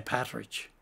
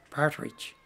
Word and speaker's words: partridge: back to strength and it was a local pronunciation for partridge as well well well most people say patrick yeah yeah even though the correct name is partridge yeah well we could